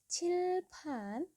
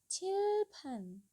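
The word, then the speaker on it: 칠판: ini kursi lalu ada chilpant Jadi bisa dilihat di sini ada huruf Cit ada huruf p berarti dua-duanya harus ada udara yang keluar jadi pengucapannya itu chilpan chilpan itu papan tulis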